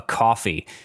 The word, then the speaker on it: Ko-fi: After much foot dragging, we have finally opened up a Ko-fi. Now, if you're unfamiliar, Ko-fi, which is spelled Ko-Fi, is a platform kind of like